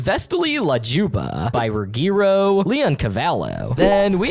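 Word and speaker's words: Vesti la giubba: The song that plays as Banana Joe points to Gumball and Darwin is the Vesti La Gubita, pronounced Vestali La Juba, by Ruggiero Leoncavallo.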